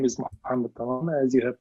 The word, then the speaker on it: Mohamed: you do uh simply stating my name is mamed as you have pronounced it correctly and thank you for this